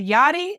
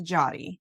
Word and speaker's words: Yari: I I respond to yachty and I I respond to jotty so I understand my parents um were very creative um and the pronunciation of my name um so I I respond to either all right well if